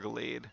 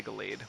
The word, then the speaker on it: Gallade: is based on regular Gallade, or Galad, however you say it. I always say Gallade, like a blade, which is probably how you pronounce it.